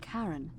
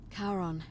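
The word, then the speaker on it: Charon: is a little off the name you heard wasn't karen it was c-h-a-r oh cherry on cameraman of the dead karon who in exchange for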